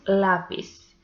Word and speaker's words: lápiz: The next example is lápiz. So this one is also llana because the penultimate syllable is the stressed one, and it ends in